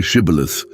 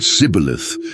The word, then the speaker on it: Shibboleth: The difference in pronunciation was subtle, just the initial consonant, but it revealed a speaker's regional origin. The Ephraimites said Sibboleth, lacking the esh sound.